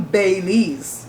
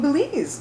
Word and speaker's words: Belize: like be il easy right I'm not from bailey's which is like ba y le easy the pronunciation I'm from Belize another I'll tell people I'm from bellezza oh